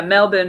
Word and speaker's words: Melbourne: Melbourne. Yeah, Melbourne is how they pronounce it there.